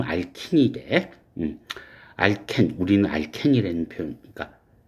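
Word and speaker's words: alkene: 그리고 여기 있는 이중결합 CC 칼본 알켄 뭐 영어 발음은 알킨이래. 알켄, 우리는 알켄이라는 표현, 그러니까 이중결합을 이렇게 얘기하잖아. 이걸 우리는 그냥 흔히 알켄이라고 발음을 하지만 미국에선 이걸 알킨으로 발음을 할 거야.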